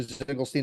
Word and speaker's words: Ziegelstein: and also to Roy Ziegelstein. Dr. Ziegelstein, I am very sorry that I mispronounced your name. It is Ziegelstein, Department of Medicine, Johns Hopkins University, Annals of Family Medicine, 2018.